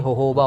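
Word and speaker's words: jojoba: जो major ingredients में तो इसको प्रोनाउंस करना चाहिए होहोबा ऑयल होहोबा मैं भी वही सोच रहा था मगर ज्यादातर लोग इसको जोजोबा ऑयल बोलते जो बोलते हैं लेकिन ओबा होता है ये हमने सबसे पहले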